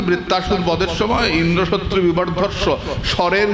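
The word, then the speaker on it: ইন্দ্রশত্রু: না বৃত্তাসুর বদের সময় ইন্দ্র শত্রু বিবারস স্বরের উচ্চারণে এদিক ওদিক হয়ে গেল ইন্দ্রটা জোরে হবে না হয় শত্রুটা জোরে হল ইন্দ্র শত্রু বিবার হয়ে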